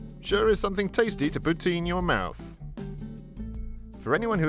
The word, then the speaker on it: poutine: is something tasty to poutine your mouth for anyone who is unaware the french canadian pronunciation close to putin makes this joke work